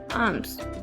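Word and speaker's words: alms: आर्म्स। यहाँ पे L pronounce नहीं होगा। आर्म्स।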